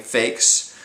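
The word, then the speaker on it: Faxe: very uh friendly individual named fakes who uh that's spelled f axe not fak as in someone who is fake um but uh eventually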